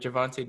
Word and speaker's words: Gervonta: Yeah, Gervonta Davis.